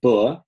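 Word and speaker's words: בְּ: four prepositions so bait it's pronounced just B is translated as in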